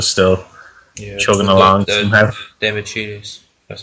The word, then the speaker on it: Demichelis: Demichelis, that's how you pronounce it in defence.